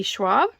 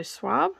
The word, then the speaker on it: Schwab: published in 2020 it is by v e schwab and that is spelled s c h w a b so suave schwab and it's science fiction fantasy okay it's